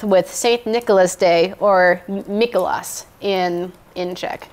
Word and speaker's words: Mikuláš: Nicholas Day, or Mikuláš in Czech. It's how it's pronounced.